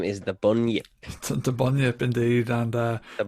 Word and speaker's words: Bunyip: His name is the Bunyip. The Bunyip, indeed, and The Bunyip. Kind of rhymes with turnip, but kind of also doesn't.